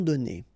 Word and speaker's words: donnés: Okay, so the good news is that you don't pronounce it. So donner, okay, so whether it would be without this final es or with es, you will pronounce it the same way.